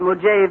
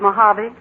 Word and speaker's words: Mojave: Real Death Valley prospectors don't call it Mojave, Mr. Newton, but Mojave.